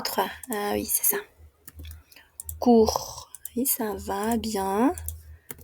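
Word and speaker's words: cours: Court. Court. Oui, ça va, court. Oui, c'est comme ça. Court. Aunque tengamos una TS ahí, no se pronuncia, ¿ok? C'est court.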